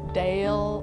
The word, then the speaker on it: DAEL: pronounce whether it was Dale ordeal or dial butt dialed is ultimately stuck so you can tell if somebody knows us or not if they pronounce it dial the digital arts entertainment